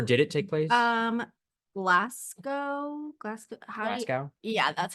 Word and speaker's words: Glasgow: Glasgow? Yeah, that's how you pronounce it.